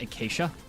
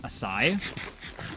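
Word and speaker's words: açaí: And for some reason, I don't know why, for some reason, I thought that was pronounced acacia. Um, and I have recently come to the understanding it's spelled it's pronounced asai.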